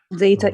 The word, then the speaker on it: data: Data input. The first syllable is stressed.